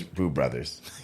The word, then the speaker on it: Bru Bruthas: That's why we did BRU, and then Brothers was BRU, and it looks like bruh, but it's Brew Brothers.